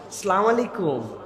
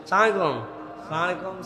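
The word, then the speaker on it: السلام عليكم: হাসি মুখে সবার সাথে সালাম দাও, আর সালামের বিশুদ্ধ উচ্চারণটাও শিখে নাও। আসসালামু আলাইকুম, সুন্দর না শুনতে? বিরাট বিরাট লোকজন দেখবেন এরকম করে সালাম দেয়, সালাম আলাইকুম, সালাম আলাইকুম।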